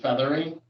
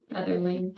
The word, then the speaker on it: Featherling: There's only one public speaker, Feathering. Am I saying it correctly? Featherling. Featherling, sorry. No, Featherling.